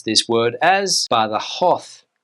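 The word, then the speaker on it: Badajoz: look at the word you would think it's pronounced B jaw but that's not correct in Spanish you would pronounce this word as B hoo B hoo B ho now another place Nam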